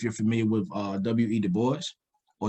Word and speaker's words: Du Bois: familiar with uh w.e du bois or the boss some people pronounce his name as you know from a french perspective but uh he deals